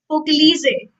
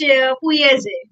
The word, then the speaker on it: Pugliese: in written form, or if we pronounce it in English, so it's Pugliese. But in Italian language, according to their accent or pronunciation, it's Pugliese, right?